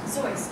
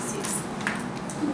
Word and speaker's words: Seuss: This is the story of Theodore Seuss Geisel, yes, pronounced Seuss and not Seuss.